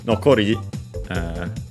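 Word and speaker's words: 残り: Nokori, let's see its accent. Yeah, accent on the last syllable, so as per the rule.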